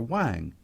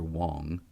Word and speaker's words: Wang: you got it but you got my name wrong Dr Wang not Dr Wong the EC has little